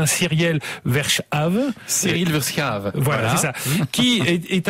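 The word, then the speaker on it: Cyriel Verschaeve: ancien prêtre qui s'appelle alors je je le prononcer de façon un peu à la française cyiel verche voilà c'est ça qui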